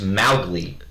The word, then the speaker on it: Mowgli: written by Kipling the main character's name is pronounced mouth league I know madly no I stole that outfit